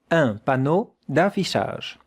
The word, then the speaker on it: un panneau d'affichage: Un panneau, 2 syllables, d'affichage, 3 syllables. That sound is the sound sh. And that sound is the sound j. It's quite different. Sh, j, sh, j. Un panneau d'affichage.